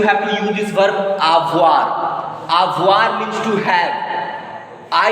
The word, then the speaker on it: avoir: So how to pronounce this verb? You already know that OE will make wa sound. And this is final pronounced consonant air. So air will be pronounced.